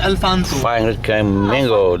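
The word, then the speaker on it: Alphonso: it's real pronunciation is Alfonso.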